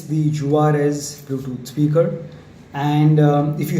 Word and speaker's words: Juarez: So Juarez, that's how it's pronounced. I was thinking it's pronounced Juarez as in the Mexican style or Mexican style, but no, it's pronounced Juarez with a stress on the R.